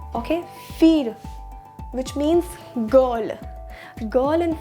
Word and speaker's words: fille: Okay, so it's feel. We don't pronounce or we don't have a letter L in French, so that's why we call it as feel. Okay, feel, which means girl.